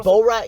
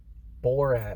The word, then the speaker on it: Borat: rat that came out borat not beauregard sorry bull right so you gotta you gotta say it right because i keep up